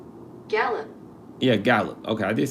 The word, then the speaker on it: Gallup: Yeah, Gallup.